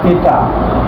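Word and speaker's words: theta: থি এটা উচ্চারণ কি এটা উচ্চারণ হচ্ছে থিটা তাহলে সাইন এইযে সাইন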